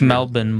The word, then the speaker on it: Melbourne: It's Melbourne, by the way. Yeah, it's Melbourne if we're going to live there. That's pronounced.